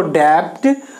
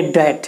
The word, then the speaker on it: debt: सोच रहे हैं आप इसको डेप्ट और इसको राइडन, परंतु गलत है, ये डेट है। DEBT में बी साइलेंट होगा, डेट और राइडन नहीं